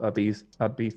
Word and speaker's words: Ibiza: So I spent some time in Spain in a place called Ibiza.